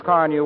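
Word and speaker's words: Car-Nu: Try Johnson's Car New, won't you? It's spelled C-A-R-N-U.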